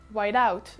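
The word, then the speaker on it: white-out: et ses ouailles doubt whiteout donc pour bien vous prononcer chaque mot c'est white la couleur blanche du coup ensuite vous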